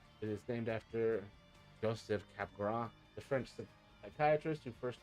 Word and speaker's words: Capgras: I had mild Capgras syndrome for a 6-month period.